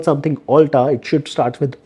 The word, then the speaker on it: Ulta: will do is like sir this is not Ulta this is Ulta you have you don't know the pronunciation so that is the